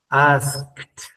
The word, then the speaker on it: asked: El segundo caso, cuando una palabra que termine en ED, pero le antecede una K, va a sonar como una T, que es el segundo sonido, con una T. Asked, asked, asked, ¿ya?